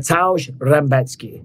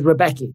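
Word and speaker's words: Rębecki: going up against mat retki right his name says rebecky but it's pronounced retki right retki is 19 and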